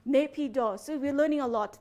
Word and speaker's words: Naypyidaw: And how do you pronounce that place again, your capital? Naypyidaw. Naypyidaw.